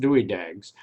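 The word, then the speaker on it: Dywidag: or two about concrete the anchors are called and pronounced dewey dags they are anchoring devices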